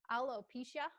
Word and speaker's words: alopecia: Alopecia.